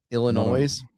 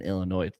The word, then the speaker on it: Illinois: up of mine is someone pronounced the S at the end of Illinois and we almost came to blows. I don't know if people do that. Illinois.